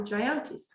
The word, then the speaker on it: Jayanti: $25 for each, a very generous donation from the Jayantis. Good. And how we- Second that. Yes. Thank you very much. How do you pronounce their names?